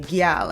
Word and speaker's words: gyal: That seems very country American, but in the Caribbean, we say gyal and we spell it Gyal. It's gyal, and it's with our accent, so we don't say gal.